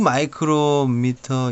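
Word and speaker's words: µm: 그래서 입자가 수 마이크로미터 이하. UM 비슷하게 써 있는 거 이거는 마이크로미터라고 읽습니다.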